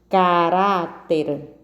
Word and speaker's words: caráter: Caráter, 3 sílabas. E a sílaba tônica é o rá.